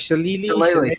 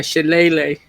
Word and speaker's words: shillelagh: How do you say that? Shillelagh? Shillelagh. Shillelagh. Like a ukulele?